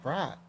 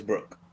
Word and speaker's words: Brook: Brooke. Brooke. They were saying Brock.